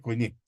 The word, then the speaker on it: koiné: Eso se pronuncia kiné, pero digamos de koiné, ¿verdad? Pero sí, es koiné.